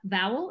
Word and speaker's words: Vowell: You produced and directed Vowlette, an essay by Sarah Vowell. Am I pronouncing that correctly?